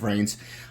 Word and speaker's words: VRAINS: So they introduced links in the series Vrain, I think pronounced Vrains, where it's part of